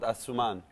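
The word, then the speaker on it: Asouman: is coming out now in may it's called asuman asuman how do I how do I spell that a s o u m a an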